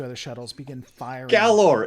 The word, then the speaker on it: Galor: you actually see the Gaylor, along with the 2 other shuttles, begin firing. Galor. It's called Galor.